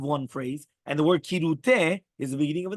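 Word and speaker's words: כרעותה: The Rishon LeZion, however, ruled that it is more correct to pronounce it with kirute, beginning with the letter kaf.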